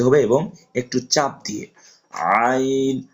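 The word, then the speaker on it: ع: পরিমাণ টেনে পড়তে হবে এবং একটু চাপ দিয়ে আইন হা পড়েছিলাম আর আইন এক জায়গায় মাখরাজ এটা হচ্ছে কন্ঠনালীর মধ্যখান হইতে তাহলে আপনারা আমার সাথে উচ্চারণ করুন আইন আইন খেয়াল রাখবেন হরফটা যেন নাকের ভিতর না যায়।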